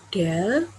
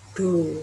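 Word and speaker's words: ∂: Ada yang bacanya ini del, ada yang baca do gitu.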